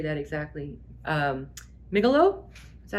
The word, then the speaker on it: Megillah: I don't know how to say that exactly, Megillah? Is that how you say that? Helen, tell me how to say that. Megillah, thank you. I'm sure I've butchered so many words, but Megillah, I now know is the right way.